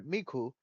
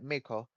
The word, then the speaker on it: Miko: The main character Miko. Sorry, Miku. No, I think I said it right, Miko.